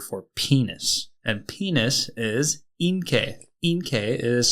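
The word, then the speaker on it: 陰茎: And penis is inkei. Inkei is spelled I-N-K-E-I.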